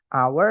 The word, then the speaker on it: hour: bahasa Inggrisnya an hour padahal tulisannya pakai h teman-teman h gitu ya Tapi bacanya karena h-nya enggak dibaca hour maka pakainya an an